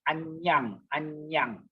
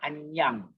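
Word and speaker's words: aññaṃ: It is pronounced as N-Y-A, near. So when you see the word there, the Pali word would be Anyang. Yeah, Anyang. It pronounced as N-Y, remember?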